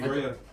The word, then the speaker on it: Keriah: Keriah, is it correct pronunciation? Yes, please. Keriah.